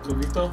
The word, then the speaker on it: coquito: Well, coquito, I'm saying it right? Coquito?